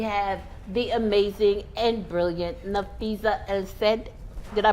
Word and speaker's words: Nafisa El-Said: And we have the amazing and brilliant Nafisa El-Said. Did I pronounce that right?